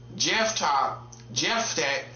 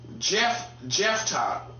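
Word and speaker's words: Jephthah: So, um, Jeff Jeff, I'm gonna say it like that. J E P H T H A H. You see? See why I struggled on it? Jeff Tai, I'm say Jeff.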